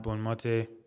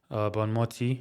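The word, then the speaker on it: Bonmatí: And uh for the women's sport, Itana Bon Mate Bon Mi I think is how it's pronounced.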